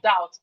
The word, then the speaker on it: doubt: We have doubt. The being doubt is silent.